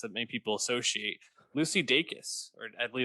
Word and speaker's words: Dacus: is actually is it i looked up an interview she did she said dakis so i think it's that's right uh i'm going to trust lucy daikis on pronouncing her name correctly um one would think